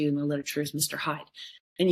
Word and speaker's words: Hyde: hide. And you hear the play on words, it's spelled h yde e, but really what you're meant to hear is hidden, hide.